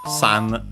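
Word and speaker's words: 三: So simply again donuts planes course and then the three uh pronounced with this Chinese reading sun most likely.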